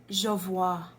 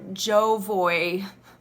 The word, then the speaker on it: Jovoy: suit you um wow this is pronounced javois not jovoy Allison apologies for that